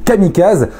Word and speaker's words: kamikaze: Bref, bienvenue dans cette vidéo dédiée aux kamikazes, que l'on prononce kamikaze en japonais s'il vous plaît.